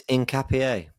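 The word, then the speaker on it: Hincapié: I'm going to say it as I see it. Hinappy. Um I've been told it's Incapier. I'm not taking the piss.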